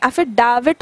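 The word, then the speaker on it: affidavit: एफिडेविट लोग बोलते हैं अक्सर, ठीक है, एफिडेविट होता है डा, ठीक है, नॉट डे, एफिडेविट.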